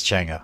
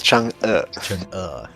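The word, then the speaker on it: Chang'e: Or the chang I say it as Changa. How do you actually pronounce it? Chang. Ch. It is weird, but it's Chung.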